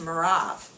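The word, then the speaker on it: מרב: my older daughter and in the Hebrew it's pronounced merav I will give her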